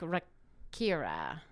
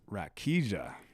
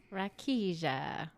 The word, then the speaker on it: Rakija: it was like Rakira. We're going to do a pause and check on it. We'll be right back. Dang it. I said it wrong. It is Rakia. Rakija. Rakia.